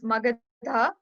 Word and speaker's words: Magadha: Okay, it's Magadha, Magadh. Magadha. Yeah. DHA. Like I think they misspelled it, so it should be DHA.